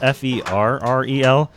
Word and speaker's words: Ferrel: It's spelled Ferrel, and he's like, no, it's like Will Ferrell, so just remember me like Will Ferrell.